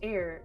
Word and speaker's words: heir: my gnocchi oh dear h is for air the honest heir admits that herbalism isn't